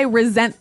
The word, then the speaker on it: resent: But you pronounce it like a Z.